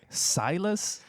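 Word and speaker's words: Silas: Came out in 2001, directed by Harry Dodge and Silus Howard. Um, she's making fun of me. I didn't know how to pronounce silus.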